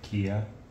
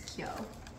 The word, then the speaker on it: Kyo: Kia. It's Kyo, but yeah, close. No, it's say Kia. And then just regular Kyo.